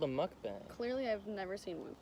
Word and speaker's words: mukbang: Florida on vacation and we're gonna do a mukbang that's how you say it the thing is